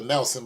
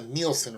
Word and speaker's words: Nielsen: about the ratings now I called it the Nelson but it's actually pronounced the Nielsen ratings as spelled in IE LS and it's